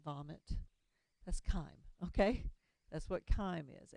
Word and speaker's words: chyme: And then I haven't mentioned this word, chyme. It's pronounced like a K. Chyme.